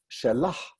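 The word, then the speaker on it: שלה: In classical Hebrew, people said shelah to say her or hers, yadah to say her hand. Today, you will not hear that H. The only time you'll hear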